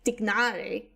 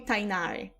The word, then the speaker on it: Tignari: Like, Tignari's name is supposed to be pronounced like Tignari, something like that. Because it's Arabic, if I remember correctly. But in the English localization, they call him Tainari.